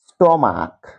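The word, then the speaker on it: stomach: স্টমাক, উচ্চারণটা করো, স্টমার্ক।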